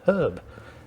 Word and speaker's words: herb: you are you don't pronounce the h at the beginning of honor it's just honor it's not honor it's not hauer but it is herb so maybe we're the